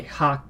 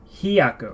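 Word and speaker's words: ひゃく: It's not ha, it's he. What am I doing? What am I doing? Being a bad teacher, that's what I'm doing. Hyaku. I'm sorry. I didn't mean to say haku.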